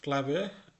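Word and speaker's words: Klub: ওকে, এর পরবর্তী পাতাতে রয়েছে নয় ইন ক্লুব। এটা ক্লাব না, ক্লুব মানে নয় ইন ক্লুব।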